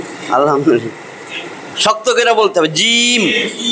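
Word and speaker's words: جيم: শক্ত করে বলতে হবে জিম জিম যাতে জিম বললে আমার জিহ্বার মধ্যে তালুতে যাইয়া লাগে তাহলে বুঝবেন আপনার উচ্চারণ হইছে জিম জিম জিম আর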